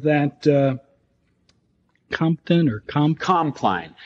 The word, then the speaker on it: Compline: the name of that uh Compton or comp compline it's spelled c o m p l i and